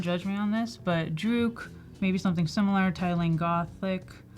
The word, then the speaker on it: Druk: I don't know how to say it either, but I always used to say drunk. Like, no, it's Druk.